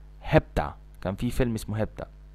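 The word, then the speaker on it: hepta: اوكي 7 في وبعدها 2، 5 وبعدها 2 يبقوا 7، تنطق هبتا، هبتا كان في فيلم اسمه هبتا.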